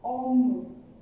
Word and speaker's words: homme: Okay, pronunciation क्या है इसका? ओम. एच साइलेंट रहता है, किसी भी वर्ड में एच आता है तो साइलेंट रहता है. ठीक है, तो प्रोनाउंसिएशन होगा इसका ओम.